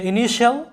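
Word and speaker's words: initial: কারণ তোমরা জানো TI এরপরে অন্য কোনো ভাওয়েল থাকলে TI এর উচ্চারণটা শ হয়ে যায়, আর শ এর সাথে এইতে হয় আকার, আকার দিলে কি হয় শা, ইনিশা।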